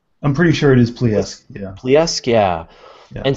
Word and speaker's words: Plesetsk: launch facility, and I don't know how to pronounce this, Plesetsk? I'm pretty sure it is Plesetsk, yeah.